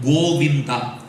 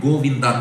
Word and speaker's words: Govinda: Bhagavan's name Goinda. It has three syllables in Sanskrit. Goinda three syllables in English spelling different spelling different.